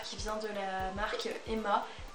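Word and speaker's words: HEMA: vient de la marque Emma. Je sais pas si vous connaissez, il me semble que ça s'écrit H-E-M-A. Et bah oui, H-E-M-A, donc ça vient de la marque Emma, ce petit jar.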